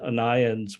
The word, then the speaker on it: Onions: apparently the family name of Oliver onions was pronounced anions which is like in Britain if you have